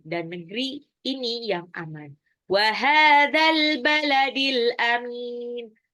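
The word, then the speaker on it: وَهَٰذَا الْبَلَدِ الْأَمِينِ: Wahadzal baladil amin. Haknya matabi'i 2 harokat, al-baladi alif lam qamariyah, alif lamnya dibaca. Ya, al-amin itu juga alif lam qamariyah, mimnya itu mad arid li sukun. Wahadzal baladil amin.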